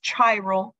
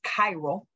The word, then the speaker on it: chiral: notes a cairo and please this is not pronounced chiro is cairo i want to specify that um remember you don't study chemistry you study chemistry so the right way to pronounce it is chiral um so a chiral carbon atom must be